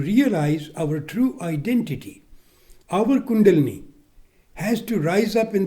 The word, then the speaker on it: kundalini: in the waking state your dormant energy called kundalini mispronounced as kundalini rises in the central channel and goes up